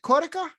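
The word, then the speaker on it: cotica: on sunday and the and what is it cortica yeah it's c-o-t-i-c-a um it's got a couple couple different pronunciations depending where on italy you are but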